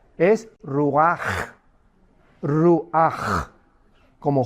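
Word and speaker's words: רוח: La palabra hebrea para espíritu es ruach, pero la CH en hebreo se pronuncia como J, es ruach, ruach, como J, y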